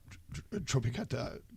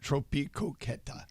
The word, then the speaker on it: Tropicoqueta: Uh, Tropicata. I always say it right. Tropicoeta. Perfect.